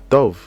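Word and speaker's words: טוב: Ensuite, nous avons le mot Tov. Donc là, nous avons la lettre Tet, c'est le son T. Nous avons le son O. Nous avons la lettre Vet.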